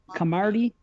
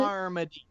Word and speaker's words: Carmody: Camardi? What is it? Carmody.